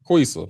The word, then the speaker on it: Quisa: How you pronounce Quisa name? Quisa. Okay. I got it right then.